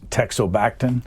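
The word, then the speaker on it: teixobactin: this story uh if the medicine if I pronounce it correctly it's texo backton you got it correct and it's Dr the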